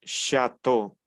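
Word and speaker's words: château: eu se pronuncia o muy bien entonces yo pronuncio chato Qué significa chato significa Castillo lo escribo aquí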